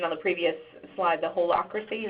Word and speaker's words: holacracy: They want to feel as if, the idea that you mentioned on the previous slide, the holacracy, is that how you pronounced it, Pat? No, you got it, you're right.